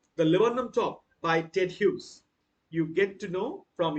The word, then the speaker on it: Hughes: poetic persona ted hughes don't you pronounce us ted hugs it's ted hughes who is he i